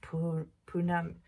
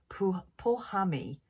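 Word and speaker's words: Pauhami: So this is designed by Punami, who is at Punami. I'm pronouncing an N in there. Pohami. P-A-U-H-A-M-I.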